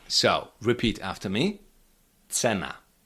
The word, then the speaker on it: cena: This letter represents the sound t like when you put t and s together. T like for example when you say in English let's go. Let's go. T.